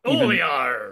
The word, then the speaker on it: Olear: Is it Olahar? Is that what it's Oli. It's just Olear. It's pronounced the same way.